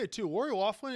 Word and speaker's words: Loughlin: Lori Loughlin, it should be pronounced Lori Loughlin. Yeah, That's definitely the correct pronunciation. Yeah, you're right. That's how you pronounce any Irish name that ends with if it's O-U-G-H, it's Auk.